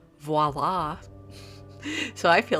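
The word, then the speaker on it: voilà: i know that word so i said viola i don't know why uh maybe because i was channeling she's the man or something i don't know but anyway it's actually properly pronounced voila so i feel like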